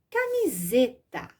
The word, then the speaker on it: camiseta: Se são duas vogais, entre duas vogais, o som que eu pronuncio é o som do Z, embora a minha escrita seja com S.